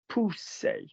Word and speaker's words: pousser: If you have two S's in a word, in the middle of a word, that is pronounced like Danny's snake. Pousser, P-O-U-S-S-E-R.